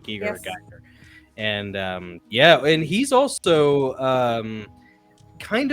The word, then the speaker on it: Giger: It's Giger. I think it's H.R. Giger. Yeah. Yes. Right? Giger, Yes. Geiger.